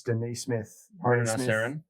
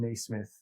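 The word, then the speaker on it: Nesmith: smith knee smith okay there's no i in it by the way yeah no it's just me smith oh okay so it's definitely not so maybe it's yeah sorry if we've butchered your name miss denise smith yeah it's aaron smith aaron nee smith uh he shot 41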